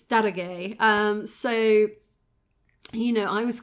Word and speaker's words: Daroga: So, I mean, even for myself, I always used to pronounce the Persian's name or the Persian's job title as Daroga, and it's Darage.